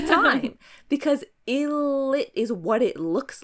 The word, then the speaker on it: ILLIT: I'm like, don't spell it like I if you don't want people to read illit because that's literally what it looks like. Like monster X, there's no other way to pronounce that. Okay. So, when people are saying monster, it's like, can you read? But yeah, I say eyelet all the time. Okay. I mean, illit all the time because illit is what it looks like.